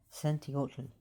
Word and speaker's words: Centeotl: He his name is Santiot. Or if you can't pronounce it, just say Cant and that's fine.